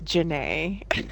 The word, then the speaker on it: Jana: say my middle name it's Jana so it's Jana and then if you ever if you ever like think about it you want to remember how to say it think about forest scump and jinny so kind of like that so there you go